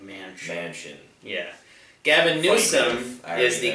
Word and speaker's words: Manchin: is like it's prince it's spelled man chin yeah but mansion yeah gavin newsom is